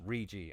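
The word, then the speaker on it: Riggi: below him alessandro rigi remember how i kept calling him riggy it's rigi i've been saying it wrong all this time fortunately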